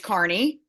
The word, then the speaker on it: Kearney: today I'm doing great and it's Carney University of Nebraska at Kearney so and everywhere we go they say it wrong but we're Barney Nebraska